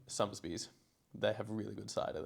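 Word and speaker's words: Sotheby's: It's actually pronounced Southern Bees, but we call it Summersbes.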